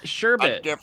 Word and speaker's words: sherbet: Oh you mean sorbet no not sorbet it's sherbet there is no orbit there is no R sore based something different